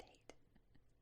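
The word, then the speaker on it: Haight: It's pronounced hate.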